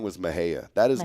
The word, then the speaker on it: Mexia: way if you looked what on Goods Earth would you think it was pronounced Mexia me x i a there no way no I wouldn't pronounce it I might say Mahia but it's but no it's Maha Maha yeah you know where